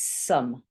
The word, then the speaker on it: some: And this one is some. This sounds like a again. And got quite E that you can't hear.